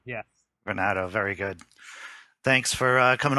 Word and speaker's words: Varnado: Am I pronouncing this correctly, your last name, sir? Varnado, yes. Varnado, very good.